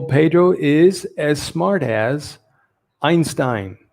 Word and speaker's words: Einstein: is as smart as einstein now it can be einstein einstein depending if you're english british english they say einstein and german is pronounced einstein so uh i prefer the the german version pedro is as smart